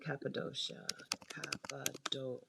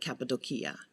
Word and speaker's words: Cappadocia: instead of antalya and cappadocia which is not pronounced that way people who have been there call it capitol kia but i haven't been